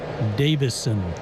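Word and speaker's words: Deyvison: First name is spelled D E Y V I S O N. Davison.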